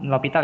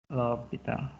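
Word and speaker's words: L'Hôpital: Turunan atau kali sekawan bisa L'Hopital ya bacanya ya. L'Hopital.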